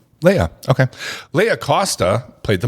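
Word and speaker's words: Laia: Leia, how do you pronounce? L A I A. Leia. Leia.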